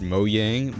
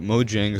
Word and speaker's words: Mojang: scale above fiction also I know it's pronounced moyang but Mojang sounds better now the way I